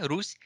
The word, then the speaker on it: Rus: Bueno, sí, esa palabra pronuncia de forma más suave, rus y ese imperio medieval.